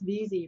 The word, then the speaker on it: Veazie: It's Veazie, rhymes with easy. Oh, Veazie. Oh, Yeah. there you go. And Yeah. if it helps any, it's a town in Maine. So Mhm.